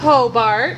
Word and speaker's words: Hobart: How do I pronounce it? Hobart.